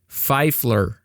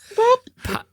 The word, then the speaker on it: Pfeiffer: No, I'm absolutely not saying a P. Pfeifler There's no L. Pfeif-yeah. He's adding letters. There's no L in her name. Pfeiffer You have anonymous?